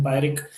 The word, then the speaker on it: Pyrrhic: So this is the pronunciation. Then Pyrrhic simply means getting a victory, but which a victory which comes at a very huge cost.